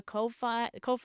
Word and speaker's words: Ko-fi: I think if you do exclamation point Ko-fi, it should share the link. I always say Ko-fi, but I think it's actually Kofi. Technically, is how it's pronounced.